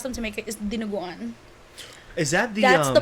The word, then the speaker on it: dinuguan: I always ask them to make it, is dinuguan.